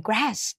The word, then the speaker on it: grass: GR ก็ ได้ นะ เป็น เสียง ของ อังกฤษ กับ อเมริกัน นะ คะ ออก ไม่ เหมือน กัน แต่ สะกด เหมือน กัน นะ g r a s ใช้ ตัว R นะ ลูก ถ้า หนู สะกด ด้วย ตัว L มัน จะ กลาย เป็น แก้ว น้ำ ถูก มย อย่า สะกด ผิด นะ GR นะ คะ GR จะ เป็น ตัว อ นะ คะ ปาก จะ ห่อ ๆ กลม ๆ นิด นึง ตัว